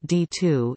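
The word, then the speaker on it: DITU: data intercept technology unit D ITU pronounced d2 is a unit of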